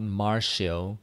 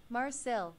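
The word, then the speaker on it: Marcille: Her name is not Marshall, is Marcu. Mar Marcel.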